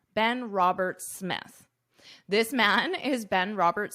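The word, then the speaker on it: Roberts-Smith: So in this case, you only pronounce one S, Robert Smith. Robert Smith. If it were just Roberts, you would pronounce the S, or just Smith, of course, S. But together, Robert Smith.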